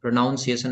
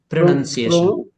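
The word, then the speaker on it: pronunciation: हैं नाउन बना के प्रोनंसिएशन प्रोनाउंसिएशन नहीं प्रोनंसिएशन प्रोनशन राइट प्रो नहीं बोलते इसको प्रोनंसिएशन ज्यादा better प्रोनंसिएशन प्रोनंसिएशन okay yes okay या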